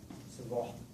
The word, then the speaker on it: Savart: Savart, how you pronounce it in French.